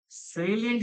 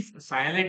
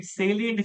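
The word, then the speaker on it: salient: सेलियंट साइलेंट नहीं सेलियंट feature.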